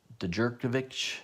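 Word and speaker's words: Djurdjevic: ultimate fallout number 4 the de jure kovitch is how you say the 125 variant yeah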